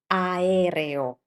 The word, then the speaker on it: aereo: This is aereo. Aereo. Can you see the same pattern? Two consecutive vowels twice in this word. A e and i o. Aereo.